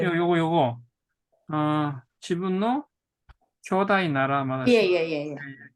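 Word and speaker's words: 兄弟: 지분노 교다이 나라 마다시. 예예예. 교다이라고 읽는 게 좋습니다.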